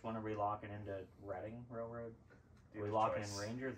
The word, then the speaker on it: Reading: and then uh is Ric uh I it's pronounced reading instead of reading uh Reading Rainbow yes and then Short Line